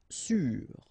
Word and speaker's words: sûr: Sûr. Sûr. Okay, even if you've got this accent circonflexe, you don't pronounce it, so you get the same pronunciation, sûr and sûr.